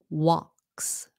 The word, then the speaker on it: walks: way you'll know okay walks walks s sound walks hmm if you